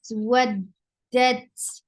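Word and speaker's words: ودت: Waddat, wow is attached with dal, and then dal will be attached with ta, and ta will get sifa of hams, because this is with sakun. Waddat, wu, for wow, circle your lips.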